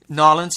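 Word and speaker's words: N'Awlins: Nolans.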